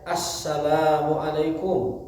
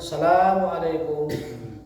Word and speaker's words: Assalamualaikum: warahmatullah Asalamualaikum warahmatullah ya dan dibacanya ada alifnya Assalamualaikum jangan Assalamualaikum Assalamualaikum itu tidak ada riwayatnya Asal harus ada Anya harus ada alifnya alif lam syamsiyah itu namanya Asalamualaikum warahmatullah Asalamualaikum